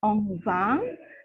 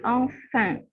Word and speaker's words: enfant: Itu F bukan V, kemudian IN itu N. Ya, jadi bukan enfant, tapi enfant.